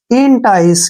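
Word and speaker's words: entice: सीई ठीक है ना इसको एंटाई नहीं पढ़ना एंटीस नहीं पढ़ना है इन टाइस क्या पढ़ेंगे इसको ई एन से बन गया इन और टी आई सी ई टाइस इन टाइस ठीक है ना इन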